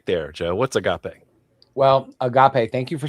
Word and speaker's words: agape: What's agape?